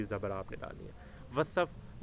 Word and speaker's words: وصف: آپ نے ڈالنی ہے۔ وصف، وصف، واو کے اوپر زبر اور سواد کے اوپر جزم۔ تبا، تبا، توئیں کے